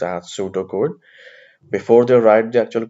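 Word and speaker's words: pseudocode: program in pseudo code uh the word is pronounced as pseudo code before they write the actual code of programming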